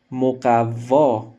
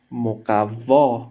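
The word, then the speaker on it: مقوا: Moqavva, Moqavva, il y a un stress sur la lettre Vav, la troisième lettre.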